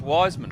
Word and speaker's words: Wisman: over this fletcher wiseman he is wise without the e so he is fletcher wisman but pronounced wiseman phil so would you